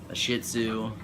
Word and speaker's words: shih tzu: a Pomeranian or a shih tzu that's not a cuss word that I'm pretty sure that's how you pronounce that yes even though it's